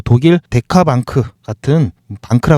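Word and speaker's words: Bank: 주요 고객사가 C 그룹이나 BMP 파리바 뭐 소시에트 제네럴 뭐 독일 데카크 같은 방크라 그러는데 뱅크인데 독일식 발음입니다.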